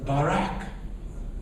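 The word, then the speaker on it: בָּרַךְ: Yes, Barak. Yes, that's the way it's pronounced in the Hebrew.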